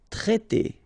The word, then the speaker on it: traiter: Traiter, okay?